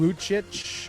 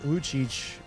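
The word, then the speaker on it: Lucic: Milan Luchich. Luchich. How do you spell it?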